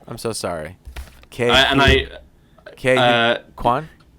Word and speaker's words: Quan: Quan? Kwan.